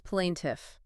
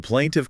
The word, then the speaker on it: plaintiff: Plaintiff, international.discipline.tif. U.S. plaintiff.